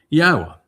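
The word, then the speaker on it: Yahweh: Yahwa, which is the proper pronunciation of Yode Wah as directed by his Torah teaching regarding his high existence and our shalom restoration.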